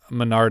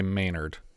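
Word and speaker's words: Ménard: So I think they were pronouncing it Menard, which is the same as in The Island, which is the last name of our heroes from the island. Sure, hero, I guess. I'll try and say Maynard if I can. It's spelt like Menard, like the store. But it's Menard. Sure, Maynard.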